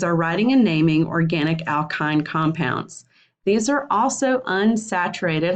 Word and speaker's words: alkyne: a Y in E ending and it is pronounced alkyne again two categories cyclic or a cyclic and